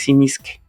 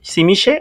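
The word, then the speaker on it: Tzimisce: y por su cercanía hacia Grecia, otra forma en la que podría pronunciarse que también sería válida es simisque. Entonces, hm nos podemos quedar con que es hacia hacia el futuro de la pronunciación y si ustedes son muy eh internacionales, pues vamos por Simis Simiche o Simisque.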